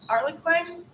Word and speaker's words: Harlequin: Like if you look at those Harlequin novels, is that how you pronounce that? Harley Quinn? Yes, Harlequin.